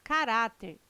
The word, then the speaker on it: caráter: Presentes no texto, os vocábulos caráter, intransferível e órgãos são acentuados em decorrência da regra gramatical que classifica as palavras paroxítonas. Item correto. Caráter, intransferível e órgãos têm sua sílaba tônica na penúltima sílaba.